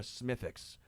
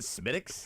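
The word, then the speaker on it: Smithwick's: So let me order a Smithix, which if you've not had a Smithix, it is a very Isn't it smithics? Smith Wix. It's spelled smithwick. But I I call it smithics.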